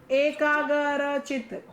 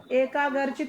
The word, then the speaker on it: एकाग्रचित: एक एकाग्रचित, एकाग्रचित नहीं होता, एकाग्रचित होता है। एकाग्र। दोनों प्रोनाउंसिएशन में फर्क एकाग्रचित। है। एकाग्रचित, ये इधर लिखा है एकाग्रचित, गर नहीं है, ग्र, एकाग्रचित।